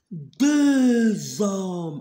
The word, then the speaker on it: hommes: Alors, هاد H la muette, on dit pas homme, on dit homme. Pourquoi? C'est H muette.